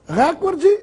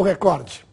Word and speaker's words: recorde: Ouve-se cotidianamente a forma recorde, com uma tonicidade na antepenúltima sílaba, portanto, como proparoxítono. Porém, essa forma não está registrada nos dicionários e no vocabulário ortográfico da Academia Brasileira de Letras. A forma registrada é recorde, sem acento.